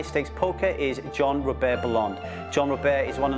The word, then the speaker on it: Bellande: Is that pronounced right? Bellande? Bellande, yes. Not Bellande.